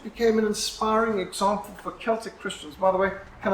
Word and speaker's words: Celtic: That's not Celtic, it's Celtic.